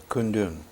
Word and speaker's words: Kundun: How do you pronounce it correctly? Kundun. Kundun.